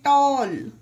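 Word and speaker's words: tall: टी A double L टॉल यह हमारा नियम था ए के जस्ट बाद जिसमें डबल एल आता हो उसमें ए का उच्चारण औ हो जाता है तो उसी के कुछ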